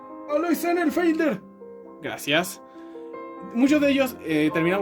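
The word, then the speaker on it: Alois Senefelder: Tenemos a otros personajes como Alois Producción, ¿cómo se pronuncia? Alois Sennenfelder.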